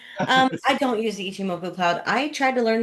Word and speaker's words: Ichimoku: Yeah, I don't want to pronounce it because it's gonna make me sound like I'm it's ICH. Ichimoku.